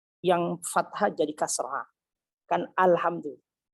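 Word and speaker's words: الحمد لله: Kan alhamdulillah. Dia tidak boleh membacanya alhamdu. Itu nggak boleh. Atau alhimdi, alhi. Jadi fathah, yang tadinya fathah dia kasrohkan. Ini nggak boleh, berdosa dia.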